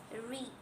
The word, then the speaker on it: read: Read becomes read. The way you say it out seem to change, right? Read becomes read, but the spelling remains the same.